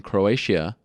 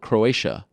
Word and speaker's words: Croatia: I call it Croatia I think it's Croatia I think that's how you say not Croatia it's a little too um you can't pronounce the ey that much got to be a little more subtle Croatia uh anyway it's going